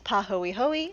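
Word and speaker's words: pāhoehoe: Now these names are Hawaiian, so hopefully I will pronounce them correctly. One is Pahoehoe and the other is A'a.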